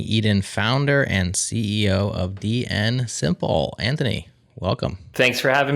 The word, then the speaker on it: DNSimple: Or is it DN Imple? Or or yes, it could be DNS imple. It's true. Oh, which one is it? No, it's DN Simple.